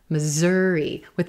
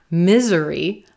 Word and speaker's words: Missouri: hear Missouri, Missouri, Missouri, with a z, those S's becoming a z, z, z, z sound. Missouri, Missouri. You got to be careful. Make sure you're stressing the second syllable and making this a purple shirt word. Missouri. It's not misery. Misery, or to be so unhappy. It's not misery in Missouri.